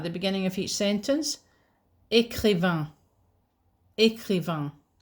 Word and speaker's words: écrivain: Écrivain. Écrivain. Or écrivaine. Changes the pronunciation, okay, as well as the spelling.